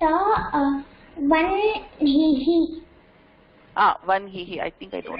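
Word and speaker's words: वह्निः: So this would, you would think it will be pronounced vahnihi. So it is not vahnihi, even though her da modala vartha, this is pronounced vanhihi.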